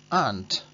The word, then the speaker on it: aren't: se hace es que la A se alarga mucho y la R nos la comemos por el camino.